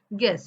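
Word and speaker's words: guess: घेतला आणि school okay जी य आल की य सायलेंट राहतो एम्पल इन गेस जी य एस एस पण म्हणताना जी एसस काड ऑफ साऊंड होत गेस जी एस एस गेस यू is silent गेस so thank you हे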